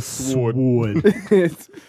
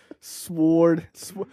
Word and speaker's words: sword: cannot stress this enough just like the W in Sword is also silent yeah what are you a wuang member it's not sword sword let me use this